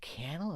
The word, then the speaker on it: Cannell: Stephen J Cannell and I was like candle is that it's like it registered in my mind it's like I've been saying it wrong for like two two decades um so